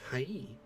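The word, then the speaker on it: はい: This word sounds like hi or hi. However, remember how the E sounds like E? Well, the word hi is actually pronounced hai.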